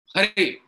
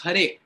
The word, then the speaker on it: Hare: So similarly, it's Krishna. It's not Kina. It's not Hare. It's Hare. So proper pronunciation.